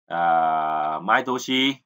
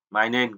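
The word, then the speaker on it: 毎年: Maitoshi là hàng năm, mai nên cũng có thể đọc là mai nên, nhưng mà thông thường đọc là mai toshi nhá, thì là hàng năm, hàng năm, hàng năm, đúng không?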